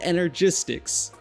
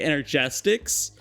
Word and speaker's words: Energistics: As a matter of fact, they're from Applied Energistics. And uh I only realized that's the right way to say it like very recently. I always used to say Enerestics. I guess I didn't read it properly ever.